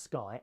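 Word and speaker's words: Skai: The passenger-carrying model of the Sky pronounced Sky, S-K-Y, it's spelled S-K-A-I, was unveiled this week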